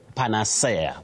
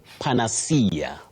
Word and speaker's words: panacea: Now what we commonly hear around us Betty is panacea. Panacea. No you say panacea. Panacea. What solves a problem in a situation? Panacea for something. Panacea it is.